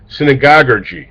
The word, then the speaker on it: synagoguergy: Here's a hard word to pronounce, but you first just have to say the word synagogue, and then at the end put ergy, synagoguergy.